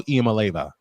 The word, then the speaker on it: Iamaleava: Nico Iamaleava.